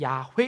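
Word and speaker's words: 야웨: 되었습니다 우리가 읽고 있는 여호와라는 2탄은 사실은 발음은 잘 못되어 진 단어입니다 여호와 가 아니라 사실은 야외 입니다 근데 그것도 더 깊이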